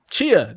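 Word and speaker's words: Tchia: And then next was, I can't even pronounce this, Tachia. Chia. So the T is silent.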